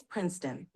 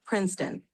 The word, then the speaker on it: Princeton: That's Princeton. It's Prince- pronounced Princeton, Princeton.